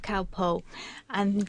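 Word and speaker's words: Calpol: we'd be used to giving him a spoonful of cowpole. Of what? It's called cowpole in English. How do you spell that?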